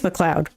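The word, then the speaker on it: MacLeod: pronounce his name wrong it's McLoud or M McLoud I think it's McLoud um because he does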